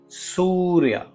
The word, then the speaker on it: सूर्य: इसमें जो उ का उच्चारण है उसे आपको थोड़ा सा लंबा करना है। जिससे कि हम गणेशा की इस विशाल रोशनी इस वास लाइट का आवाहन करते हैं। सूर्य।